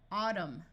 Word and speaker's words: autumn: coming climb climbing climber if you have MN at the end of a roote the N will be silent so this sound is m m Au says a Autumn column solemn if you